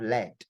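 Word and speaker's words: laid: say that means that there is no e at the back of ugly for men that's why we are not pronouncing the D right Le all right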